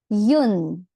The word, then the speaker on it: une: Now for feminine nouns, for feminine singular nouns, we have yun. Yun. That's correct. That's how we pronounce it.